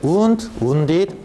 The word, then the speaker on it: wound: 이때 wound, wounded인데 하나만 꼭 기억할게. 발음 잘해야 되는 거 알죠? W-O-U-N-D, O-U-N-D야. W-O-U-N-D. wind 아니지? wind, wound, wound. 이거 기억하셔야 돼요. wind는 감다 말다. 그래서 wound 그리고 wind, wound로 발음하거든요.